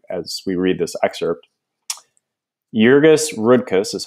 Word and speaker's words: Jurgis Rudkus: ponder as you as we read this excerpt jurgis rudkus is how you pronounce that the main character is a Lithuanian